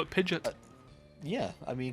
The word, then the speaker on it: Pidgeot: Maybe you could call it Pidgeot. Yeah, I mean, because it's like pigeon with a T on the end, which kind of makes sense now.